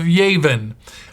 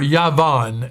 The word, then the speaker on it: Yavan: elisha is actually the son of yavin or yavan as we will pronounce it and it means the